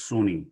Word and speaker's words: SUNY: we have two campuses state university of new york we basically just pronounce it as sunni okay suny polytechnic institute